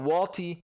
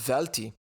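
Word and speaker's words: Welti: Walty comes in. Actually pronounced Velti. Looking at him, he's Swiss-born, which is pretty cool to see.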